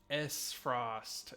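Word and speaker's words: Aesfrost: the grand duchy of s frost s frost okay that's how we pronounce that not what i called it the a is silent hear my words the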